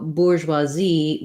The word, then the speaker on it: bourgeoisie: closer to the french this is one that we do pretty much try to use the french pronunciation but of course we have an american accent when we're saying it so bourgeoisie we stress on the last syllable z then the bur bour is a boo uber so this is something